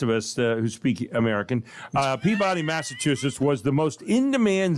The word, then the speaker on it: Peabody: Peabody, Massachusetts. Peabody.